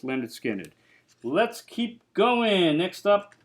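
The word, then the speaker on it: Lynyrd Skynyrd: on that debut album pronounced Leonard skinnard let's keep going next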